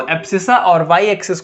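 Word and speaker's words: abscissa: बोल दिया जाता है एब्सिसा। क्या बोलते हैं हम इसको? एब्सिसा। यहाँ पे अगर लिखूं तो एक्स एक्सिस को हम बोलते हैं एब सी सा।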